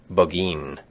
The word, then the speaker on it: Burgoyne: Nutting had a famous foxhound named Burgoyne. He pronounced it Buggeen, which my informant used to borrow.